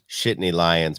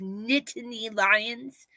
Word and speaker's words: Nittany Lions: Yeah, and I saw that your Shitney Lions pulled off the win against West Virginia as well. Shitney Lions. Isn't that how you pronounce that? No, it's Nittany Lions.